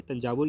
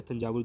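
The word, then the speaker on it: தஞ்சாவூர்: सी थी, तो आपको याद रखना है तंजावुर या थंजावुर, जो भी प्रोनाउंस करते हो आप।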